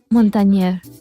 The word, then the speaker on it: Montagner: nos llamó mucho atención montañer se pronuncia montañer es de Raíces italianas es yo soy italiana